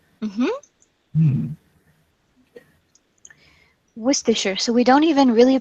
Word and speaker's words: Worcestershire: they pronounce the name of a county they pronounce sure sure because it's unstressed so we pronounce it Worcestershire Worcestershire mm-hmm Worcestershire so we don't even